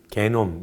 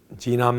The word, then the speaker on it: genome: 이걸 뭐라 부르냐면 걔네들은 소위 게놈, 이제 그거는 독일식 발음이고 영어로는 genome이라고. genome mapping, 유전자 지도, 제작 이렇게 부르고 geophysicists, 지구물리학자들은 on mapping the structures of the Earth's core.